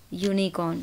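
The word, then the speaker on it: unicorn: हो रही है स्पेलिंग, बट जब आप प्रोनाउंस करते हैं तो वॉवल साउंड नहीं आती है, कॉन्सोनेंट की साउंड है।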